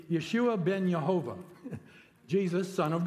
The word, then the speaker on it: Yeshua: his son Yeshua Yeshua if he said his name in Hebrew it would really be Yeshua Ben yehovah Jesus Son